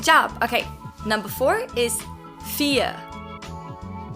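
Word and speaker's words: vier: okay number four is fear fear all right another pronunciation thing the v in german is pronounced exactly the same as the f in german it's both they're just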